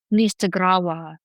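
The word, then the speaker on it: Onistagrawa: I sound out the word with the long U of the first syllable, Nistagrawa, as I've been taught to say it.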